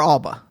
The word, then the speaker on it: Alba: then Alba Alba or Alba Alba either way twed either what is your what is your preferred way of having your name pronounced sure in Spanish is Alba Alba ah yeah uh and